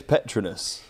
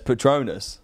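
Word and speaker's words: Petronas: is it petronous well there's different ways to pronounce it it depends where George says petronous yeah Toto says Patronus hear me out Pit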